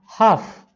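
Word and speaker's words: half: हाफ, हाव्स, हाफ में L silent रहता है, बोला नहीं जाता है, हाफ, हाव्स।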